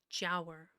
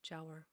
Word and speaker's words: Giaour: How to say it correctly. Jower. A non-Muslim, apparently. Jower.